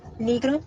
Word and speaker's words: Negro: I don't know what is in English, but negro in Spanish. El apellido. Nigro. Nigro. Okay. Mm-hmm. Entonces, her last name is pronounced Negro. It's Negro.